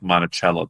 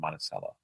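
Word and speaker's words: Monticello: We also stayed in what looks like Montichello, but it's actually pronounced Monaceel.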